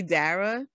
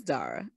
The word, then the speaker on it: Dara: So you're nicer than me, because for the people who say Dara, they saying it wrong. And so they can be as offended as they want to because they're saying their name wrong. It's Dara.